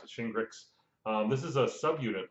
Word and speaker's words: Shingrix: virus vaccination called shingles meets grits um and that's how you pronounce it shingrix this is a sub